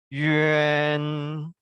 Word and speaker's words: yuan: Jadi bacanya yuan, yuan, nah, yuan. Ini bedanya dengan ini karena dia tidak ada A di tengah. Bacanya kita mengucapkannya adalah yuan, yuan, yuan gitu ya.